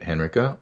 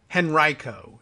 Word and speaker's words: Henrico: 700 votes all right Henrico is the the claim to correct pronunciation and Reiko Henrico yes thank you so mr.